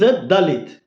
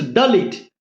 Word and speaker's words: Dalit: Dhalith is a wrong pronunciation in English.